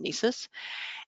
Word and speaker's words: NCEES: educator evaluation system ncees we pronounced that acronym Nice's and in this tool